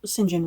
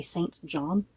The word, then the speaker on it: St John: thing that I have the urge to say St John Rivers because is that totally wrong with me so yeah it took me forever to get the singen rivers kind of in my head that that's